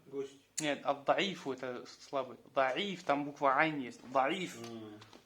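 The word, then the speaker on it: ضعيف: Даиф, там буква айн есть. Даиф. Даиф пишется так.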